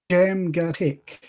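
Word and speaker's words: Djamgatech: I think it's pronounced Jamgatek. DJ is pronounced with just a J.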